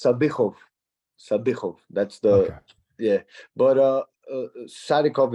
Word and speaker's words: Sadykhov: So because of the KH, it makes a ch sound. So it's Sadykhov.